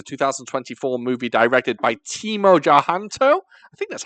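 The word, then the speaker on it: Tjahjanto: So, The Shadow Strays, a 2024 movie directed by Timo Tjahanto. I think that's how you pronounce it. It's difficult. It's got a silent T at the beginning, I think.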